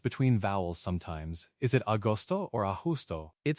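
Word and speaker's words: agosto: Is it austoto or austo? It's closer to austoto. The go here is like the G in go.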